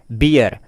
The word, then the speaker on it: bier: इसका इंग्लिश होता है बियर, स्पेलिंग है BIER।